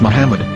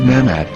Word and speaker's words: מוחמד: According to Ben Yehuda's Hebrew English Dictionary, it is correctly pronounced as Muhammad, not Mamad.